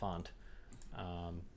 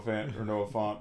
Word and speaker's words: Fant: Noah Fant. Your lock is his last name wrong. Fant. Fanta. However, you want to you say it very pretentiously, like yes, Noah Fant. Mr. Font.